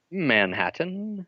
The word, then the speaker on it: Manhattan: Manhattan. Manhattan? Manhattan. Like the Mad Hatter?